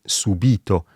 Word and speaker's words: subìto: Oppure subito, nel senso di immediatamente, e subito, participio passato del verbo subire.